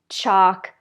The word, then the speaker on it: chalk: kind of strange way so again with these forget about the L we don't say it at all the vowel is ah ah and we say talk chalk walk stalk okay I have one